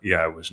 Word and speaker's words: Yahowah: time left to get your relationship right with Yahwa. And it begins by recognizing that Yahwa has one and only name. and that you start using it, that you start celebrating it, that you revere Yahwa's name, and that you pronounce it correctly.